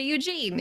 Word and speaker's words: Ugin: differently some people say ugin some people say eugene you know yes that's